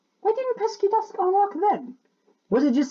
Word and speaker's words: Pesky Dust: I nearly said Pixie Dust. It's Pesky Dusk.